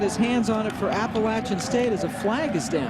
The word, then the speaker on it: Appalachian: Fall first down uhoh Jack witer mispronounced it it's Appalachian State yeah there's the